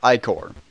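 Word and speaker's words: ichor: can fill with magical iore that's pronounced iore choose your iore wisely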